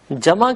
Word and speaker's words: جمع: وہ ہے مفرد، اور جمع کے لیے جمع ہی کا لفظ رائج ہے، لیکن ہم اسے جمع تلفظ کرتے ہیں، یعنی عین آواز نہیں دیتا۔ ایسی ایک مثال آپ